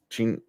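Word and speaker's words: Tichina: Weeks, Tisha Campbell, and was that how you pronounce it? Tachina Arnold. Yeah, Tachina Arnold.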